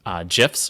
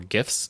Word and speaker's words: GIF: the ability to support gifs or gifs depending upon how you pronounce it both are acceptable but gifs are going